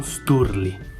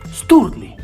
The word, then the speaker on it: Sturli: si avvince dal cognome, Sturli. Quando lo si pronuncia, tra la R e la L, la lingua si arrotola e si srotola proprio come fa il tappeto rosso al passaggio di Sua Maestà.